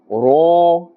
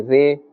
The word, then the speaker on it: ر: Kha, Za, Ha, Ra. This letter Ra also must be pronounced with a fuller sound. Do not say Re or Ra.